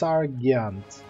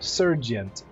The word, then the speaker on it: sergeant: It's Sargyant, right? I gotta look this up. I don't know where that word comes from, but it's weirdly how it's pronounced, how it's typed down. No, it's Sir. Sergeant.